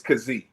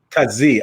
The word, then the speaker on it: Kazee: how do you pronounce correctly that's the correct pronunciation of his name khazi it's kazee kazee okay that's even easier yeah yeah i got